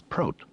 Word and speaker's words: Prot: "My name is Prot." He pronounced it to rhyme with goat, not hot.